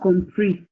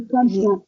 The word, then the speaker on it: comprends: It's not compris. Je ne Comprends. okay. Je ne comprends. Yes, comprends. Prends. That word is like prends.